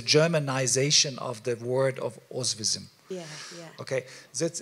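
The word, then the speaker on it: Oświęcim: the concentration camp because the name of this city is ozvism okay so then because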